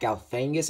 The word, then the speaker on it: Galifianakis: I know one actor from The Campaign, one of my favorite movies, is actually in this movie, that being Zach Galifianakis, I think that's how you pronounce it.